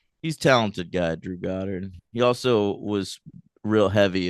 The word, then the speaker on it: Goddard: Are we sure it's not Goddard? I am sure. How? Well, because Godard, the filmmaker, is spelled with one D instead of two D's, and also I've